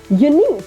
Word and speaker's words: unique: or q u e the U is often silent right now think of